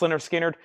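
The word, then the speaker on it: Lynyrd Skynyrd: Winds of War $39.99 Leonard skinnard pronounced lonard skinnard analog the only analog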